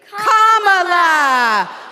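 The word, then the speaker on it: Kamala: do you pronounce it first you say comma like a comma in a sentence then you say la like la la la la la put it together and it's 1 2 three commala all right so let's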